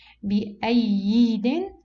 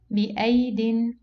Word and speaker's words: بأيد: Here we have two ya. Okay, so do we pronounce it بأيد? No, since here we have rounded zero, so this ya is cancelled. So how we pronounce it? بأيد.